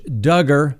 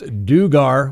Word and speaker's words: Duggar: the daca today josh duggar that's right rhymes with hugger certainly not pronounced dugar we certainly learned that